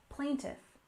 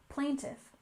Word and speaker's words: plaintiff: legal system we have plaintiff with stress on the first syllable plaintiff plaintiff for example the plaintiff filed